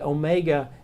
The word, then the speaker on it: Omega: a long a sound the Omega is a long o sound so it's Omega so two words to